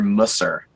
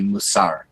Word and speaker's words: mussar: Musa uh you know you hear it pronounced differently uh from from different folks I think you know traditionally in the more like yeshivish World uh the world of the the traditional Yeshiva you often hear Musser um but more of the kind of contemporary more Israeli Hebrew pronunciation would be mussar Jordan I'm really curious